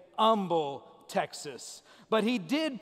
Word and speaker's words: Humble: fire department shows up he was born in humble texas i would have said humble texas but